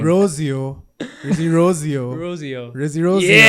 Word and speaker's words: Rozeo: That's how you pronounce his name. Rozeo.